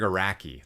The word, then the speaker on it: Araki: That's the Greg, is it Akiri? No. Greg Akiri? Fuck, I knew how to say his name like not that long ago. Yeah. Greg Araki, that's what it is.